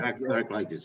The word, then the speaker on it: Heraclitus: Heraclitus, yeah.